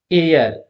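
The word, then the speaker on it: heir: एयर, ये H silent है, एयर, जब एयर से स्टार्ट होता है क्या हो जाएगा, एन एयर।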